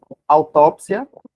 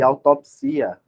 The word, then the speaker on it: autópsia: ser chamado de acróbata esquisito autópsia e autopsia a mesma coisa pode ser amnésia aliás